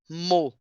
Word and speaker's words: mot: Le mot le mot et les mot les mots les autre cosa importante on a vu vimos nos PDF là t a consne final on ne prononce pas En français, on dit mot.